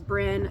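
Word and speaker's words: Bryn: They said to you, "My name is Bin." Um, that's spelled B R Y N.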